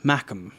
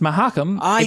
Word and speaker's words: Mahakam: temple district an area known as uh little mackam or magma i believe uh your first one is correct sir it's definitely not pronounced mahakam definitely no evil it's just very confusing it's